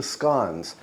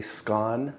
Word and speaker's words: scone: On to the scones. And by the way, I say scone, not scone, because I use the Scottish pronunciation.